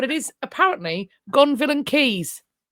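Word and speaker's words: Caius: I know it's spelled Kais, but it is apparently Goneville and Keys.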